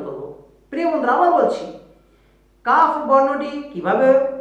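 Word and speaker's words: ك: প্রিয় বন্ধুরা, আবার বলছি, কাফ বর্ণটি কিভাবে উচ্চারণ করব, কোথা থেকে করব, এর মাখরাজটা কি? জিহ্বার গোড়ার থেকে সামান্য সামনে আগিয়ে তার বরাবর উপরের তালু থেকে কাফ বর্ণটি উচ্চারণ করব, এভাবে বলা যায়।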